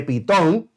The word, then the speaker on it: Pitón: almacenes para comida de pitón y esa palabra pitón con acento en la o significa del lenguaje egipcio